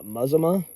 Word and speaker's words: Mazama: Do you know what a how a local pronounces that town? Uh, Mazimma.